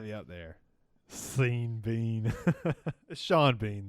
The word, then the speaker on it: Sean Bean: you think that like scene Bean that's up there dude that's got to be up there seen Bean Sean Bean though but SC it's spelled like scene beam every time I put